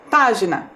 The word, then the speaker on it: página: palavra sorteada foi página percebam lá página a sílaba mais forte também é a antepenúltima a sílaba P então percebam lá de